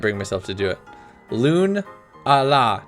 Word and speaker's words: Lunala: Loon-a-la, not Lunala. Loon-a-la.